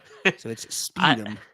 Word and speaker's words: sputum: So it's sputum. It's kind of like It doesn't have the spelling. The spelling looks like it would be a short U instead of a long U.